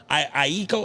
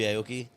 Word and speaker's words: Aoki: What's the Aiko? Am I saying his name wrong? Steve Aoki. Steve Aoki.